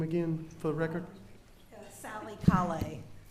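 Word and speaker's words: Callais: again for the record Sally K A lot of people mispronounce our names but it's c a l l a i s so that's fine um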